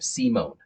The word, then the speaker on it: Simon: to the U.S., because my wife's name is Simone. That's her maiden name, Simone. It's spelled Simon. So I know that if any American is going to read Uriel's name, his whole name, uh, they're always going to say it wrong, uh, because it's the I doesn't make the I sound here.